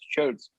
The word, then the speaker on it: chode: stoic they're identifying as chodes as chudes yeah that makes sense you know what's really funny we're talking about in our podcast our mother has it i the word chode rhymes with toad and my mom is